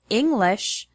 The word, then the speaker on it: English: For example, the word English has the stress on the first syllable, ing.